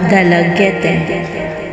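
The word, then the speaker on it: Dalaguete: Going south, you could climb the Osmeña Peak of Cebu in Mantalumon, Dalagete, pronounced as Dalaget, standing at 1,013 meters above sea level.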